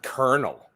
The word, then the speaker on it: Colonel: one right Colonial right why do they pronounce it kernel sometimes you know like Colonial so and so it's Colonel so and so like oh no